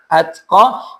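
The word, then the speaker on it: الأتقى: Kemudian di ayat 17-nya wasayujannabuhal atqa, pakai ta, atqa, jangan sampai mirip dengan wa yatajannabuhal ashqa. Jangan sampai atqa berubah menjadi ashqa.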